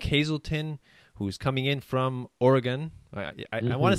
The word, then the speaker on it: Oregon: So today we have Nick Hazelton, who's coming in from Oregon. I want to say Oregon, but it's wrong, right? It's Oregon.